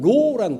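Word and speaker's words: Rho: 그래서 이거를 PX라고 읽는데 PX가 아니고 이게 원래 헬라어예요. 저 헬라어가 바뀌어져 버렸네요. 다시 옮기면서 크리토스, 이 X가 키라는 헬라어로 키이고 P가 아니고 로라는 뜻입니다. 사실 R이에요.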